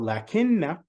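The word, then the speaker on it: لَكِنَّ: We say lakin or lakinna as if we have an alif here, lakin, see, lakin, but actually we pronounce the alif, but we don't write it.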